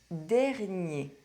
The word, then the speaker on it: dernier: First, masculine nouns ending in -ER and -IER: Le cahier The notebook Le premier The first one Le dernier The last one Many of these masculine nouns